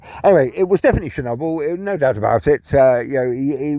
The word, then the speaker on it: Chernobyl: I said, can you just pronounce that word again? And he goes, Chernobyl.